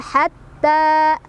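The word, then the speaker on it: حتى: Salamun hiya hatta, ditekan. Ta mad tabi'i karena ada fathah berdiri ya di atas huruf ta, dibacanya panjang 2 harokat.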